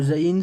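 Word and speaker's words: זין: ça qu'on accentue donc il fait le son Z tout simplement voilà c'est tout le Zayn c'est le Z en français tout simplement comme le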